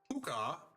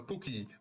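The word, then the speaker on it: Pucca: And I mispronounced that name. Oh, that one. Yeah, I know that one. Yeah. So puka is the correct word to use.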